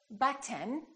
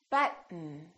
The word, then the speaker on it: button: a few more words don't say button say button button don't say curtain say